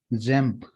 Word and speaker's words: XAMPP: एक सॉफ्टवेयर आता है जिसका नाम है XAMPP, ठीक है। जैम्प, ठीक है, इसको हम जैम्प प्रोनाउंस करते हैं, ठीक है।